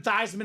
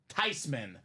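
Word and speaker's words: Theismann: she said I'm not mad it's not even thyman it's supposed to be not even thian it's actually pronounced tyman the proper way just a slight smudge on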